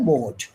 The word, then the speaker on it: मोड: और तीसरा है मोड, मोड, है ना? मोड, मोड के बीच में हल्की सी 'ह ' ध्वनि का उच्चारण होता है , है ना?